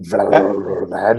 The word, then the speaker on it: Valladolid: I would say probably one of the games of the week or weekend is Atletico Madrid versus Real Valladolid. Is that how you pronounce it? Uh, Valladolid.